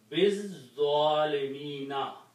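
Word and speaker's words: بالظالمين: And when you read with this ba, you do not pronounce this alif. Biz-zalimina, of the wrongdoers.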